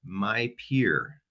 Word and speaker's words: MyPIR: Jolie Fader is the Western Mass Young Adult Regional Peer Recovery Specialist with the Massachusetts Young People in Recovery, also called My Peer, which is spelled MYPIR.